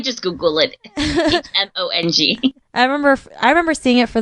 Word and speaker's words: Hmong: But now I know it's silent.